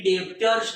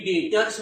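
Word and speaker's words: debtors: Sundry डेब्टर्स, अरे B silent होता है, बी का उच्चार नहीं होता है, बी का प्रोनाउंसिएशन नहीं होता है, बी एकदम साइलेंट है, इसके लिए सन्ड्री डेब्टर्स नहीं बोलने का, सन्ड्री डेटर्स बोलने का।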